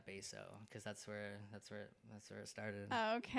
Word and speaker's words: Bassoo: My last name is Bassoo. But Okay. It's Bassoo. Yeah. Okay. But like perfect. my old school crew calls me like Bassoo, because that's where it started.